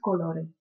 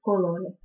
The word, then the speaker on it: color: с А так а правильное произношение будет Color Если вы скажете Колор - это будет означать жара что вы узнаете из